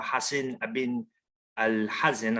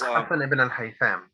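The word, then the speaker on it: Hasan ibn al-Haytham: Now, this individual right here, Hassan ibn Al-Hazan, I'm sorry if I mispronounced that. He was, Hassan ibn al-Haytham.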